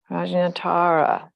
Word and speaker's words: Prajnatara: projectara pearl of wisdom Tara with a long a rajinatara so Tara means Pearl